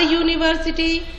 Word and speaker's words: university: A university, you are thinking that U comes in vowel, E comes in vowel. Then why I have written there a? Because there is, as I taught you, you have to concentrate in sound. There is consonant sound.